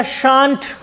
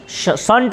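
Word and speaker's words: shan't: Cell note का शांट, संट नहीं, train संट नहीं करना, शांट।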